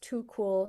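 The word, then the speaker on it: 土酷: of means rural cool it also is pronounced too cool so there's a sort of war play there.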